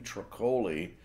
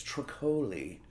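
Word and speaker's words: Troccoli: music artist named Kathleen truck holy and it's spelled like broccoli but with a T so anyway that's truck holy and she has been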